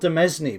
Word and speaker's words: demesne: I mean, it's spelt Demesne, but I think you're supposed to pronounce it Demesne. It's sort of a French thing or something.